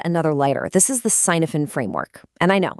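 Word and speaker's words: Cynefin: This is the sinophen framework. And I know it's a funny looking word. It's Welsh and it's pronounced kvvin.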